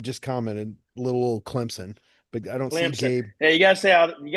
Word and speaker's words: Clemson: Hey, you gota say you got to say how the people around here say they say Clemson. Clemson. Clemson. Clemson. Because it's spelled with a P.